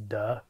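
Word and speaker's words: 德: the early Chinese call unfortunately the Mandarin pronunciation is Du which sounds kind of funny it's this energy you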